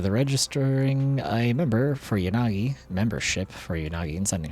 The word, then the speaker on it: Yanagi: Isn't the way to do it in Japanese is the A should be pronounced the same both times and they should both have like the same level of time spent on each syllable.